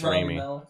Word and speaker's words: Raimi: You know, I think I think you pronounce his name Rami or something. I don't think it's Raimi. Yeah.